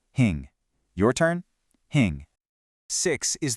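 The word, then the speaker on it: հինգ: Number five is hing. This one has a bit of a nasal sound right at the end. Hing.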